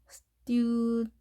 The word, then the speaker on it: student: 바로 student 이렇게 되죠. student 약하게 해주는 거죠. 자, 액센트가 여기에 있다 보니까 나머지가 소리가 약화 현상이 일어나는 거죠.